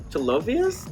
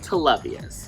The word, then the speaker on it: Televius: Is your name Telovius? How do I pronounce my it? My name is pronounced Televius. Televius. Like T loves us.